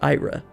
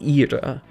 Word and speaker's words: Ira: with Latin, you'll know this isn't pronounced Ayra, it's pronounced Ira, just by the nature of how pronunciations in that language are.